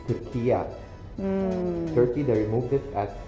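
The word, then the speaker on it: Türkiye: We pronounce our country as Turkiya.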